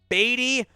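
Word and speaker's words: Badie: Tyler, it is pronounced Beatty.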